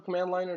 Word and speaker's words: Cmdliner: rename is comment liner CMD liner I think you pronounce your command liner that's how I pronounce it so now that